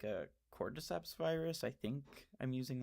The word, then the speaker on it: cordyceps: Um cuz you're right, cordyceps and that is the correct way to pronounce it.